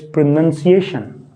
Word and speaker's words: pronunciation: Now, most of the people, they get confused because of the verb of this word, pronounce. As I asked you, how do you pronounce this word? So when we say the verb, it is pronounce. लेकिन जब हम इस लफ्ज़ को अदा करेंगे, we won't say it like pronunciation. It's pronunciation. Pronunciation.